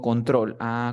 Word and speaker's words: control: Por ejemplo, tengo control. Control es consonante vocal consonante, sí, 2 sílabas. La fuerza de voz está al final.